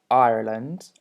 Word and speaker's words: Ireland: okay so they are slightly different we have ireland ireland and ice um island sorry and as